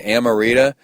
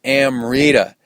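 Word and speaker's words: Amrita: And people have a problem saying Amorita. It's amita.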